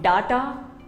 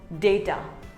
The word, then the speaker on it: data: restaurant restaurant another word it is not data it is called data say day ter similarly here's another word